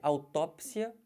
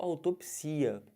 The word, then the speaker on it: autópsia: Aqui, autópsia ou autopsia. Os dois estão corretos.